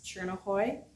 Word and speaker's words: Tjornehoj: I got it from my grandpa who came from Denmark, and it's Chernohoy. So that's how you say it. And then it's spelled Tjornehoj.